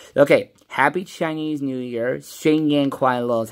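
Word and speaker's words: 新年快乐: Xing Yan Kuai Lo is how you pronounce it, by the way.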